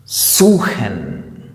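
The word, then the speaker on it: suchen: എന്ന് ഉച്ചരിക്കും ഉദാഹരണത്തിന് ദാസ് ബുഹ് മഹൻ ദ ബഹ സൂഹൻ അല്ലെങ്കിൽ കൊഹൻ അതും അല്ലെങ്കിൽ ലാഹൻ അല്ലെങ്കിൽ ദിവഹ ഇവിടെയൊക്കെ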